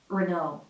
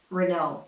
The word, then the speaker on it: Renault: that's the right way Renault Renault with the American arm breno those final letters are supposed to be silent and the stress goes on the second syllable Remo Remo so this